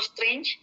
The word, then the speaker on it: strange: Kalau teman-teman pernah dengar ada film Doctor Strange, itu bacanya strange. Kayak ada E-nya S-T-R-E-N-C gitu ya, strange.